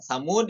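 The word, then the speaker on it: ثمودا: Nah, Samud itu al-alif alaiha sifar mustadir ya. Di situ di kata Samud ada sifar mustadir ya, bulatan yang itu ya. Ada tulisannya di situ ya. Tasqutu lafdhon, yaitu dihapus ketika lafaznya ma'a subutiha khatton.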